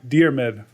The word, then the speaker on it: Diarmid: thanks for being here actually I pronounced your last name wrong it's deid deid I think so fine